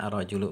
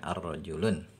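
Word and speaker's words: الرجل: dan mukanya di sini kita bacanya arrojulu bukan narojilun ya sudah kita bahas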